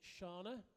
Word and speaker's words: Siana: have Siana Gallaher climbing just been corrected on my pronunciation it's shaana makes a change from